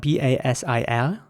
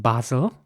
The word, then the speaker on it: basil: The next word is spelled B-A-S-I-L. And in British English, this is pronounced basil with an R sound. And in American English, it would be pronounced basil with an A sound.